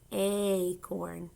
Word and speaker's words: acorn: it's an acorn now this one's actually says its name a doesn't it it's a long a acorn do you hear it